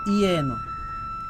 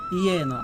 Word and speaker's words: যেন: যদি অন্তস্থ জ থাকে, অন্তস্থ জ থাকতে আমরা উচ্চারণ করব ইয়।